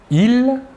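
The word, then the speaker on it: ils: Tout d'abord, le masculin, « il », la S finale ne se prononce pas.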